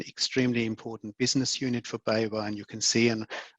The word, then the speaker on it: BayWa: There's a really funny video of people trying to pronounce the name. It is it's quite, yeah, have a look. It's BayWa.